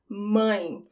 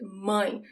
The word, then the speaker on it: mãe: Now we have the words for mother and father, mãe. Here you have the nasal sound, right? Mãe. It's like someone calls you when you go like, it's that sound, mãe.